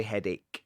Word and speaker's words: headache: It's spelled like hedache, but we say headache.